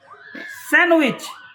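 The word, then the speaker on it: sandwich: Silent grandfather D silent Karim and Rahim D silent স্যান্ডউইচ D silent Naz D silent thanks for for watching.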